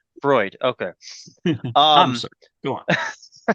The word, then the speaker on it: Freud: Freud.